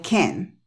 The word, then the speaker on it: can: es entonces repite esto di que no puedes y dilo con una E I can y el acento en la e en la can I can I can